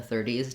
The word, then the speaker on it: thirty: stress on teen so when i'm saying 30 or 30s i'm very fast on that d it does have a clear e vowel 30s but in 13